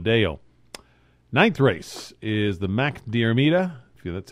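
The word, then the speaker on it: Mac Diarmada: Ninth race is the Mac Diarmida. That's how you pronounce that.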